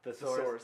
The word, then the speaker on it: thesaurus: Thesaurus, like a dinosaur.